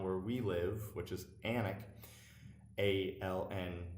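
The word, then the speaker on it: Alnwick: we live which is anak a ln w IC k they don't pronounce the w's i don't know why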